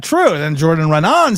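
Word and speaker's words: Jordan Raanan: Jordan Renan?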